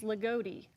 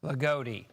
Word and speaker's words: Loogootee: Yeah, I just got the pronunciation from one of our digital teams, Loogootee. Loogootee. Thank you. God bless you. Loogootee.